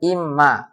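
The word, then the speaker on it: إمّا: Ah, ini imma ini asalnya in dengan ma. Jadi bacanya imma.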